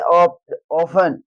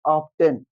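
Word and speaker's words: often: ऑफन। ऑफन क्यों है? अगर आप पढ़ते होगे ऑब्टेन लेकिन वो ऑब्टेन नहीं होता है। ऑफेन आप गलत पढ़ देते हो।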